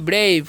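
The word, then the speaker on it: brave: आर ए व ई तो इसे ब्रब नहीं पढ़ना है इसे पढ़ना है ब्रेव क्या पढ़ना है ब्रेव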